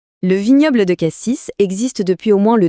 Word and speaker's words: Cassis: Ce fameux S à la fin de K6, on le prononce ou pas ? C'est le petit détail qui trahit tout de suite. Et bien non, on dit cassis avec le S silencieux.